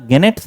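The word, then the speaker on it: gnats: छोटे-छोटे जो नेट्स है यहां नेट्स नहीं पढ़िए नेट्स जी यहां साइलेंट है नेट्स मॉडर्न जो यानी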